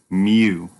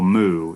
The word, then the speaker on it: mu: mu is Mu so we pronounce this phonetically the way that a kitten cries Mew so it's not a cow moo it's a kitty Mew Mew is the symbol